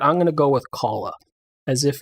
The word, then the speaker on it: Calla: audiobook because I wanted to know how to pronounce it. And at the beginning of the book, the narrator says Calla.